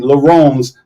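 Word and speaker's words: Laruns: And she asked, and again, Laurens, tell you the difference between French and English. Laurens is spelled L-A-R-U-N-S, the runs.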